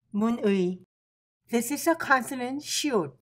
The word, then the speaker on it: 문의: First letter is 문, second letter is 의. Together, it is pronounced 문의.